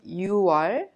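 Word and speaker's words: 유월: Please remember 6월 and 10월 are differently pronounced unlike the other names of the months.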